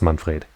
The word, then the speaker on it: Manfred: that old man i know it's pronounced it's pronounced manfred i almost said pronounced detective it's fine oh